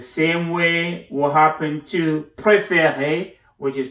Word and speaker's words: préférée: The same way will happen to préféré, which is pronounced the same way as our first préféré, but it has another E.